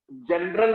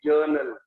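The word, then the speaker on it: journal: किसमें रिकॉर्ड होता है, जनरल नहीं है, बहुत से लोग इसको जनरल बोल देते हैं, जनरल नहीं है, जर्नल, आर is silent, जर्नल।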